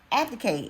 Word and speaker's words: abdicate: Abdicate. It is abdicate. Okay. The B is pronounced.